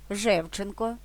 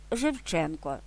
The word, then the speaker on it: Шевченко: заслужений працівник культури України у всіх прізвищах суфіксом енк в однині наголошується другий або третій склад від кінця Шевченко третій склад від кінця або Шевченко другий Зубченко Зубченко Грінченко Грінченко такої ж думки і